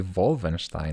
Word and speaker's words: Wolfenstein: That would be Wolfenstein, wouldn't it? It would be V and not W.